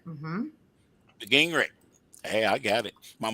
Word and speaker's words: Gingerich: how do you pronounce it correctly? I've always said Gingerich. Is that true? Gingerich. Mm-hmm. Gingerich.